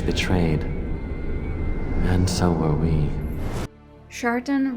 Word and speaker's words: Shartan: and so were we chartan rhymes with shitan an evil gene or